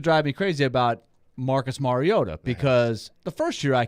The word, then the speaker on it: Mariota: three four years he'll call him Mariota wasn't it a lot of guys or or I mean announcers guys or girls reporters whatever would say Mariota it's like it's not Mariota they do the same